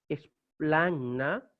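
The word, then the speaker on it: σπλάγχνα: ¿Por qué leemos esplagna? Porque gamma delante de hi tiene un valor de nasal y por lo tanto así hay que leerlo y pronunciarlo.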